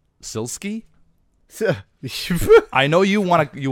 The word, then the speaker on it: SILSKY: I I am prepared question number one from silk see from the patreon what is the most expensive car you have ever driven I believe his name is pronounced SIL ski sir I know you you want to make